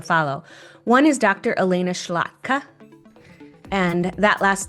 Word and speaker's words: Szlachta: Elena Schlachta, and that last name is spelled Szlachta, and she focuses really on data literacy and measurement.